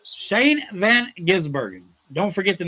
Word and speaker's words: van Gisbergen: Shane Van Gizberen.